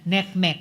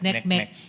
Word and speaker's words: NCMEC: Uh partly it's accounted for by the fact now uh bat tip NCMEC or neckmech as they pronounce it neckmech cyber tip line reports.